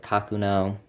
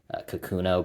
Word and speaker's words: Kakuno: And then the number 15 seed is the Pilot Kakuno. I think a lot of people pronounce it Kakuno, but I think in Japan it's actually pronounced Kakuno, and I'm used to saying that, so that's what I'm going to say.